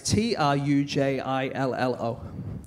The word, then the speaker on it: Trujillo: So this is a thing that happened in Venezuela, in a town that I don't know how to pronounce. It's Trujillo.